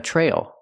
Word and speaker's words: trail: on the trail pronunciation the TR makes a chch sound like chicken plus the r TR Trail then the long a try and then the dark l o tighten the tongue Trail she's hiking on the